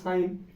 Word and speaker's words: sin: একটা হচ্ছে সাইন, SINE, তার সংক্ষিপ্ত নাম হবে SIN, উচ্চারণ হবে সাইন, এর উচ্চারণটা হবে সাইন।